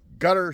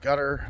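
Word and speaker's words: Qatar: But from what it sounds like there was enough damage, I think it's pronounced gutter spelledqar pronounced gutter.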